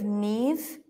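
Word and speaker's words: Niamh: t the story of Neeve and oin the story of Neeve and oin this is like a V okay who would like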